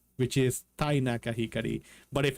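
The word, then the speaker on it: 光: The kanji for light, which is pronounced hikari, and the kanji for law and order.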